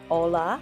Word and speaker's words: hola: the way together V the letter H is silent you hear that miss vanish word hola it's actually spelled H